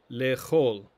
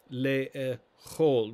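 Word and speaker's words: לאכול: The infinitive to eat is lechol, lechol, with the emphasis or the stress on the final syllable.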